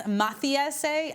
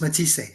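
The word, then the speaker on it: Matthysse: This was back in 2015 when you were reffing for Lucas Mathiase, I think I'm saying that wrong, and Ruslan Prodonovikov. Did I say it right? Provodnikov against Matisse.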